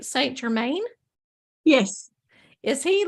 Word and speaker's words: Saint Germain: Michael you go and then say am I pronouncing this right Saint Germain yes is he like one that really resonates